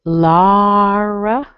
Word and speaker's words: Laura: Okay, I see the word Laura, L-A-U-R-A. It ends with an A. The sound is a schwa. Doesn't sound like an A. This actually has two versions. You can do Lara, or I would say